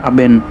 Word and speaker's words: Ibnu: latin dengan lidah Spanyol kata Ibnu diucapkan Aben atau even terjadinya perubahan ini berasal